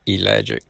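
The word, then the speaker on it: ellagic: It's spelled E L L A G I C. Elic acid.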